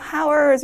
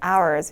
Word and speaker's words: hours: 자, 방금 등장했던 hours 같은 경우는 이 앞에 나오는 h가 묵음이어서 h가 들어있다고 해도 hours 이렇게 발음하시면 절대 안 되고 h는 묵음으로 hours 이렇게 발음해 주시면 되는 거 아시죠?